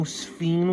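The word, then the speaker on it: sphene: I didn't even know sphen was a rock until I looked it up. It is straight up a rock. A rock no one has ever heard of. One that rhymes with the word queen.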